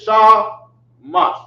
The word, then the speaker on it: Shamash: This is how they pronounced it, Shamash.